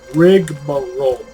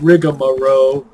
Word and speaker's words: rigmarole: have to see and yes that is the correct way to say that rig roll I had to look that up it's not rig Amaro as most people including myself tend to say well I don't say